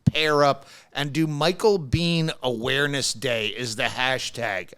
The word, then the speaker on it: Biehn: It's only been in the last 10 years that people have actually pronounced my name as Biehn.